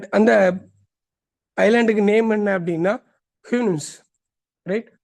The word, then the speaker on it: Houyhnhnms: அண்ட் அந்த ஐலாண்டுக்கு name என்ன அப்படின்னா ஹிம்னிம்ஸ், right? ஹிம்னிம்ஸ். அண்ட் எஸ், pronounced Houyhnhnms are the race of noble horses who live accordingly to the laws of reason and nature.